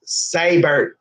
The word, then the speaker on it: Seibert: he's not gonna be a starting card it's pronounced saber saber fight cyber I know yes I know